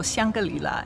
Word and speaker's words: Shangri-La: In 2001, this city officially renamed itself from Chongen to Shangala or Shiangalila as it's pronounced in Chinese.